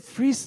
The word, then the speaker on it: Fries: So, it looks like Fries, but it's uh But, that is that is how you say the name Freeze. But, they pronounce it Freeze, though. Like Freeze, there's no difference between the two.